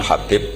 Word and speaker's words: Habib: yang nulis Abi Abdurrahman Habib assulami itu di harakatnya kitab itu ada yang nulis hubb tapi yang benar Oh enggih yang benar itu bacanya habib habib itu asulami itu ikut